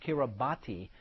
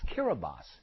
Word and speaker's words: Kiribati: that also became independent Tuvalu an independent nation Carabas oftentimes mispronounced Kiribati but it's Kira bas in the Hawaiian language we call it a